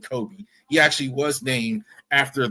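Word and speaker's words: Cobee: did look that up even though it's spelled different c o BB C OE Kobe he actually was named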